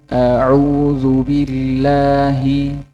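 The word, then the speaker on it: أعوذ بالله: Yang benar pengucapan fathah itu tidak terlalu miring, juga tidak terlalu membuka lebar bibir. A'udzu billahi, bukan bukan a'u.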